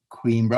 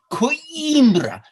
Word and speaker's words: Coimbra: don't you know anything in portuguese it's not queen bro it's coinbra so uh i'm corrected a couple years later